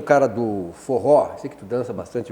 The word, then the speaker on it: forró: Que o forró teria sido uma conversão do for all para todos, né? Pela pronúncia forró, né? Puxando o nordestino. Nada como ter gente que tem conhecimento. É verdade, existe essa pesquisa, parece que confirmada, que quando faziam as festas que incluíam o pessoal mais humilde, hoje diriam os excluídos, aí era for all, para todos. Em pronúncia nordestinês, forró.